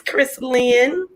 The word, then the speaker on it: Chrislyn: I told my grandmother when I named my daughter Chrislyn. I said, "Look, Granny, it's one word and it's pronounced like this, Chrislyn."